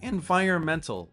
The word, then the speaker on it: environment: The word environmental looks like it's hard to pronounce. Let's try a useful trick. Let's just use the word environment to start. Don't pronounce the N.